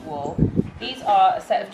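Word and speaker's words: Wahl: oh i can't speak w-a-h-l has spelled i think it's war that pronounced wool these are a set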